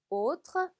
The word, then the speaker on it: autre: autre, autre. 아의 붙어서 오 발음 나는 거 기억나시죠?